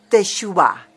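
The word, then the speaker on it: תשובה: Y resulta que la palabra arrepentimiento que se usa en el Antiguo Testamento es la expresión hebrea teshuvah. Teshuvah. Se escribe con para los que tienen algo de hebreo, tau, shin, vav, bet y la hei.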